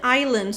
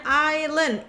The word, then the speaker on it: island: He found a picture of a pink island surrounded by water. He found, dia menemukan a picture gambar ya, of a pink island. Ini bacanya island. Yang bilang Island, kita berantem, oke?